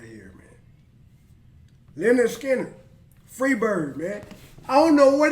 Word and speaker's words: Skynyrd: right here then the Skinner Freebird I don't know what it is the nerve Skinner that's how you pronounce it it's right here man